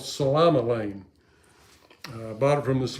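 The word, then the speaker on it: psilomelane: Well, turns out there's a silent P on it, like psychology or psychiatrist. It's Psilomele. Okay, Salama-Lane.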